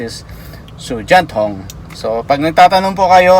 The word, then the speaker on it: 手电筒: Ang pagka-pronounce is Sujanthong.